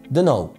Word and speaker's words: don't know: أول بديل لـ I don't know هو خمس حروف don't know. ودي أصلا الطريقة اللي احنا بننطق بيها I don't know بسرعة، بنشيل الضمير والT بعد الN ما بتتنطقش فبنقولها don't know.